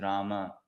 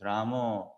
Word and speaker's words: Rama: Actually, Sanskrit speaking, it is not Ram, Ram. It is Rama, Hare Rama.